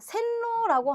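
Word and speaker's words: 線路: 자, 센로라고 하면 우리 신칸센이라고 하잖아요. 그래서 선로예요. 선로. 자, 로는 짧게 발음하셔야 돼요. 우리 도로도 도우로우 아니고 도우로죠.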